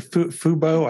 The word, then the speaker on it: fubo: it was definitely pretty low cast yeah and fubo I think I pronounced that right f-u-bo-tv that's that's right that's